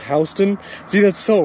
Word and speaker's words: Houston: Georgia has a county called Houston, but we pronounce it as Houston.